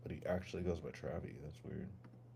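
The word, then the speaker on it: Travie: remember Travy McCoy I thought his name was Travis McCoy and people always like mispronounce his name but why do they call him why is it Travy but he actually goes by Travy that's weird everyone's copycats they all copied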